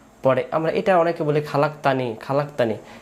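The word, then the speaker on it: خلقتني: আমরা এটা অনেকে বলি খালাকতানি খালাকতানি এটা খালাকতানি বললে এটাকে উচ্চারণ হয় না এটা হবে খলাক তানি খলাত এখান থেকে আল্লাহুম্মা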